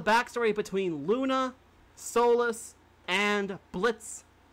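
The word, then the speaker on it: Blitzø: And we now know the backstory between Luna, Solas, and Blitz. The O is silent, I remember that.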